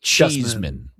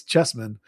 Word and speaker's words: Cheesman: Oh, you pronounce that chess. Okay. It's not SEMAN. It's just SMAN. So I think it's Chessman.